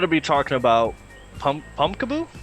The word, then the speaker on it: Pumpkaboo: so I'm going to be talking about pum pumpkaboo saying it right yeah you are pumpkaboo as you could tell by the name it